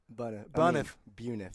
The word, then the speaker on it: Buniff: That is how you pronounce it, correct? Buniff. Buniff. Okay. Wow, I've been saying it wrong this whole year.